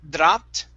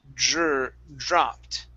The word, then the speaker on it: dropped: Okay, so right here, instead of dropped, okay, give me a good DR sound. Dropped.